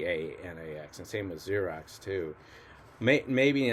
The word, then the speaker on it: Xerox: strange thing about x when it starts a word is that it's really a z right it's pronounced z so why do they